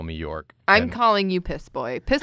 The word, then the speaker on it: York: That's how you pronounce your name, right? York? It's one syllable.